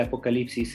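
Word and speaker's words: ἀποκάλυψις: En griego se dice apocalipsis, con acento en la A. Apocalipsis. Después de la L viene una Y, en lugar de I latina.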